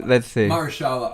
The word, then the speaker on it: Mahershala: Mahershala Ali.